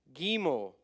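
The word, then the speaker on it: גימל: vow bait B sound gimo G sound hard G GG doet D sound hey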